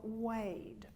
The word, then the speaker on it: wade: The first wade is a diphthong. That means we've got two vowels for one syllable. Wade. So we've got an E and an E. Wade. If we skip through there too quickly, we can sound Irish.